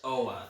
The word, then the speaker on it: Oa: It's Oa.